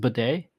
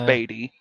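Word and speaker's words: Badie: So I think it's pronounced bidet. Is it? No, it's Beatty. Is it? Yeah, it says on PFR.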